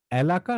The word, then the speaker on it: এলাকা: সবাই ভুল বললেন, উচ্চারণটা হচ্ছে এলাকা, এলাকা না। কারণ কি? কারণ হচ্ছে মূল শব্দটা কি? মূল শব্দটা হচ্ছে ইলাকা। ইলাকা থেকে পরিবর্তিত হয়ে এসেছে এলাকা।